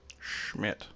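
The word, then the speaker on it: Schmitt: name of carl schmidt schmidt and you have to pronounce that way because he's german fella schmidt carl schmidt and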